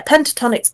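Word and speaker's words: Pentatonix: Yeah, Pentatonics.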